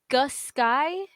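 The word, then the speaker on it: Aughisky: But Agusky, it's SKY, not SKI.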